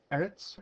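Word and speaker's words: ארץ: one would be H 776 which is actually pronounced Eretz or right it is from an unusual route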